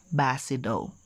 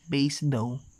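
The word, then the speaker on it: Basedow: 1774 we have first johann bernard basido but some pronounce this as base dough but i prefer basido johan bernard basado established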